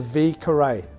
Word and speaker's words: Vieux Carré: sell all right this cocktail is called the v curray that's how you spell it v cu ray just like that is